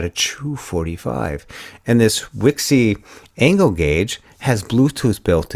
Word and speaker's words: Wixey: And Wixey is spelled Wixey. It's not Pixie, like Picc. Not Pixie or Picky. Yeah. Yeah. It's not Wiki.